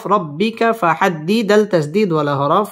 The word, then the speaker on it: ربك: বিনিআমাতি রা পুর হবে রব্বি বা তাসদীদ ওয়ালা হরফ রব্বিকা ফাহাদ্দিদ আল তাসদীদ ওয়ালা হরফ ফাহাদ্দিস এখানে ওয়াকফ করতে হবে ওয়াম্মা বিনিআমাতি রব্বিকা ফাহাদ্দিস ওয়াম্মা বিনিআমাতি রব্বিকা